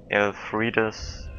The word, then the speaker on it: Elfriede: A stance derived from Elfriede's former swordsmanship. Or, if I pronounce her name in German, Elfriede.